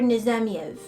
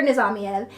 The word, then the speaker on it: Nizamiev: her name is Dr nizamiev I don't know why I said it like that it's because it's Russian and I'm like yeah it's zombies I can't say it right but her name is